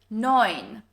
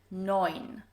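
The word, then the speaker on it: neun: 9. EU here is pronounced as oi, as in the English word for boy. 9.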